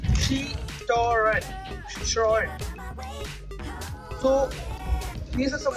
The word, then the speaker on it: Citroën: It is written and everybody pronounces it as Citroën, but you should never say it as Citroën. It is Citroën.